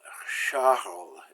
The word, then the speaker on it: Charles: CH is pronounced like SH in English. Shh. So the name Charles is pronounced that. We say chocolate as chocolat. CH is always SH.